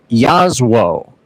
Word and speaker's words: Jasło: And for those of you wondering, if you've seen the screen and it says Jaslo, it is actually pronounced Jasło in Polish.